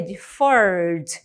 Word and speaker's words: deferred: Deferred, também eu não pronuncio a letra E, mas ele está ali na escrita, tá bom?